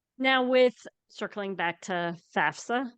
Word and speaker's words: FAFSA: with circling back to FAFSA is that how you say it FAFSA yeah lots of confusion around